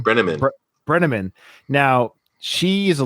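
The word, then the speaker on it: Brenneman: Brenamman.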